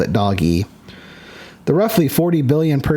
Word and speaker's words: DOGE: guys know this, but people call it Doge, rightfully so, because that's what it is, Doge. You look at it, it's pronounced Doge. But their original intent was Dog-E. Dog-E is what it's supposed to be. But it's kind of evolved into its own thing as Doge, so nobody would know